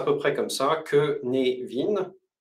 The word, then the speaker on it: Cynefin: près comme ça que névine c'est un peu comme Kevin le prénom Kévin mais avec un nœud